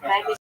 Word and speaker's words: Khmelnytsky: Khmelnytsky, but it's pronounced Khmelnytsky.